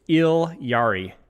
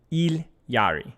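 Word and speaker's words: Illari: It's ilari. It's how the ketchuan pronunciation is.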